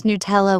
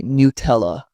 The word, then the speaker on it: Nutella: Some pronounce Nutella with stress on the first syllable. Italians say Nutella, which feels smoother.